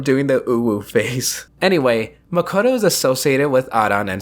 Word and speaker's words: Makoto: probably bring up that I know Makoto's name is pronounced more like Makoto but I'm more used to saying Makoto because of Danganronpa simply put his Makoto